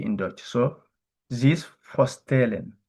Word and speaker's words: zich voorstellen: We say zich voorstellen. I repeat again, zich voorstellen. Remember, I told you S at the beginning of word is Z.